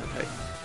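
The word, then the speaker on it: Entei: I know it's pronounced Entai.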